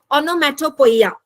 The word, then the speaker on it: onomatopoeia: figure of speech है इट is pronounced S ओनो मैटो पोइया किस तरह से आप प्रोनाउंस करेंगे ओनो मैटो पोइया ओके तो यहां पर देखिए ओ एन ओ ओनो एम ए टी ओ मैटो पी ओ ई आई ए पोइया ठीक है तो ऑनमेटोपोयिया